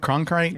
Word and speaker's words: Cronkite: That's you say it, Cronkite? Yes, yes. Cronkite.